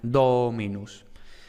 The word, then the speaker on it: dominus: por tanto el acento no recae en esa sílaba, sino que recae en la anterior. Tenemos dominus.